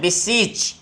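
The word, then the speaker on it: beseech: Next में देखिए हमारे पास है बिसीच। अब देखिए थोड़ा सा इसमें अंतर है, बिसीज, ये बिसीच, तो इनकी प्रोनाउंसिएशन में डिफरेंस है।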